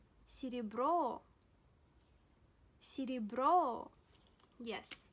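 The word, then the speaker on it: серебро: falls in this world CD bro CD bro CD bro yes the stress falls on oh please have a look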